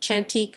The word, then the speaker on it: Chantek: southcomb in malayan indonesian hantik pronounced chantik means lovely or beautiful